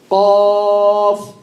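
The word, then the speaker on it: ق: Qaf. Qaf. Qaf. Be careful from saying qaf, not qaf. Qaf. Qaf is a heavy letter or light letter?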